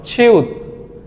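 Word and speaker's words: 치읓: এটাকে কোরিয়ানরা বলে ছিউত। ছিউত, এটার মূল উচ্চারণ ছ।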